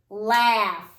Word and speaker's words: laugh: I'm sorry, boys and girls, it does not rhyme with the word tough. Point to the word, our last word. Okay, what's that word? Laugh.